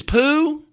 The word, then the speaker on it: Pooh: Thank it does have an H on it if you're wondering how it's spelled. It's not like the the feal form. It's like the Winnie the Pooh form, but still it it sounds like you're saying poo.